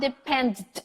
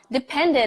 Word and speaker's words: depended: depended on that contract yeah so it's not dependent on depended on you have a very clear syllable right after all these